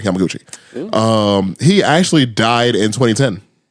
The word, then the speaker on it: Yamaguchi: Yamagashi is the last name. I can pronounce that for sure. Tsushitomo Yamaguchi. I'm sorry, Yamaguchi.